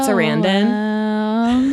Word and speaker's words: Sarandon: Anyway, he was in this movie called Noelle with Susan Sarandon.